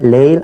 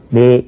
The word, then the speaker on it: 내일: 올 레자니까 레가 본음이지만 레일 안 그러고 내일 이렇게 발음합니다.